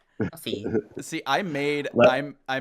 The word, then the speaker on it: Ko-fi: ad for it, and I totally pronounced it Ko-Fi. So Yeah, I don't know. the way they spell it like on their site is KO-FI, so it looks like Ko-Fi. Yeah. But I'm sure just it's supposed to be coffee.